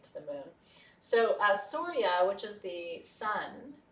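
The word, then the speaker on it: Surya: which is the sun the god of the sun is s-u-r-y-a sorya a lot of words in sanskrit in the english spelling are actually phonetic where they're spelled like they sound chandra for example which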